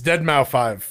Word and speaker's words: Deadmau5: It's Deadmau5. He's Canadian. That's how you pronounce that.